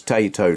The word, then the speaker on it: Taito: It's Taito, like potato.